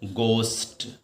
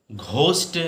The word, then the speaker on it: ghost: ध्यान रखो, गोस्ट। घोस्ट बोलते ना, घोस्ट, लेकिन आप प्रोनाउंसिएशन जब निकालो तो गोस्ट माने भूत।